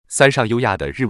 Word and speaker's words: 三上悠亜: Mikami Yua's Japanese name is pronounced (みかみゆあ, Mikami Yua).